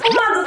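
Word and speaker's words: ポマード: She really hates that pomade, so if you come across her, Shout out "Pomado, pomado, pomado!" three times. Pomado? Pomato? That's how it's pronounced in Japanese- Like that place, Pomato Kimbap, that pomato?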